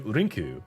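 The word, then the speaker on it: リンク: So instead of link, we'll do Rinku because Rinku is the uh how it would be pronounced in Japanese, which makes sense cuz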